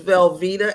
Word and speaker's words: Velvetta: My name is Velvetta, and yes, it's pronounced like the cheese, last name.